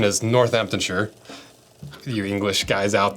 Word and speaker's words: Northamptonshire: family started making boots in what I would pronounce northamptonshire but the correct pronunciation is northamptonshire a few English guys out there I apologize